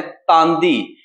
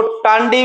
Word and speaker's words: तांदी: जगह का नाम है तांदी। कई जगह तांदी लिखा हो सकता है, आपको टांडी भी मिल सकता है। तो भैया ऐसे नहीं सोचना है, ये मिलते जुलते नाम है, प्रोनाउंसिएशन डिफरेंट डिफरेंट है।